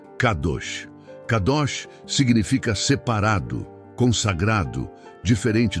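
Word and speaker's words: קדוש: Para entendermos a natureza deste fruto, podemos olhar para a palavra hebraica, para santo, que é cadosch, se pronuncia cadosch.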